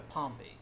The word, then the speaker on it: Pompey: is nice Pompeii's but when you drop the US it goes to Palm B to shift the stress ships from the second syllable to the back to the first because the this the ending kind of pulls the shift along with it so kind of frustrating